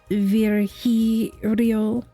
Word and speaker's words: Virgilio: It's pronounced Virgilio.